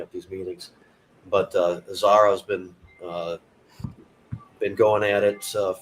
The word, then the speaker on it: Zahra: the show with uh am i pronouncing it right zara yep and you're here but